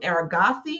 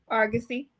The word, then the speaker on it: Argosy: master's in Community Counseling from aragassi am I pronouncing that right Argosy and you have a